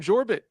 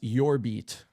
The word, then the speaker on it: Jorbit: Baseball reference has pronunciations. It's got to be Jorbit, right? I can't buy Jorbit. I feel like the most white American loser in the world saying Jorbit. This says your beat. Your beat.